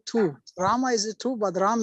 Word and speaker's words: Rama: really so important and not ram ram but Rama Rama what is your what